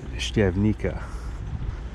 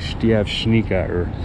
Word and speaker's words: Štiavnica: then the name became Steve Nika which I'm pronouncing it in the English way of reading the word but the actual pronunciation if I remember correctly is like Steve Shaniqua which closely resembles how